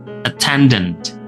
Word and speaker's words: attendant: Attendant. Attendant ya. Nah, pelafalannya sama ya. A-nya berubah menjadi e.